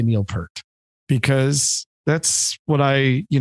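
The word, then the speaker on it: Peart: pert or pier to the great debate it's puret no doubt about it and if you're in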